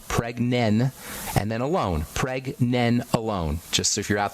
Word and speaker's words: pregnenolone: Preg, as in pregnancy. Preg, nen, like Ben, except nen. Pregnen, and then alone. Pregnenolone.